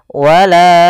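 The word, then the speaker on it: ولا: Wala baru baca a. Panjangkan la-nya dulu 4 harokat baru lepas. Wala wala.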